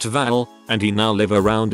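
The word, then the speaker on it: Hval: name is voldemaputin Val meaning whale and is pronounced Val and he now live around in harborfest which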